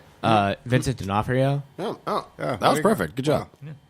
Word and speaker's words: Vincent D'Onofrio: here's somebody that I won't be able to pronounce their name Vincent D'Onofrio that was perfect good job okay he's answer